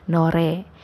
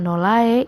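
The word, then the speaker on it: 노래: dia adanya di tengah jadi bukannya nol ae bukannya 0lay tapi nore kalau kalian bacanya nonae itu sudah tidak ada artinya sama sekali dalam bahasa korea 0ai lolai itu tingginya hai salah jadi yang bener nore nore hai berikutnya ada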